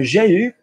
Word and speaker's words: j'ai eu: So j'ai eu, great. Remember that one is pronounced U. Anything else in French, EU is E.